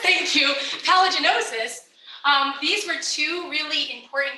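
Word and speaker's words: paligenosis: know if you follow Jason Mills's work in paleogenesis. Did I say it right? Palaginosis, thank you. Palaginosis.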